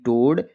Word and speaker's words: toad: Silent होता है। आप हमेशा ध्यान रखिए। जैसे COAL कोल, COAT coat, LOAN loan, TOAD टोड, GOAL गोल।